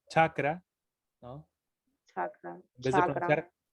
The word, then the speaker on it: chakra: Chakra, En vez chakra, en vez de pronunciar cacra, se pronuncia chakra.